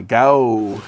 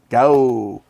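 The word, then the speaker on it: Gaoo: The GAO, that's how they like to pronounce it. GAO.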